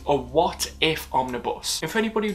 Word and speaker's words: What If: a farming bus now because of the accent i really have to pronounce the t in what so it's a what if omnibus and for anybody